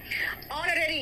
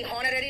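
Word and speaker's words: honorary: ऑनररी, हॉनररी नहीं है ये, ऑनररी होता है विदाउट सैलरी।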